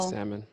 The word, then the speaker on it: salmon: the L in salmon is silent, people. Salmon.